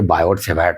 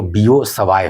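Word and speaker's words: Biot–Savart: हम लोग तो पढ़ेंगे बायोड सेवा ही। प्रॉपर प्रोनाउंसिएशन जो होता है वो बीओ सवाय होता है। अब बीओ सवाय दिख रहे है ना? बिल्कुल ही अलग है।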